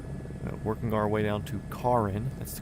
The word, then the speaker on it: Cairns: We're currently over Northern Australia, working our way down to Karin. That's the correct correct pronunciation.